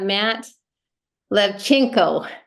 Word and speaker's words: Lewczenko: the gate I am so excited to have Matt levchenko nail it I did it nailed it I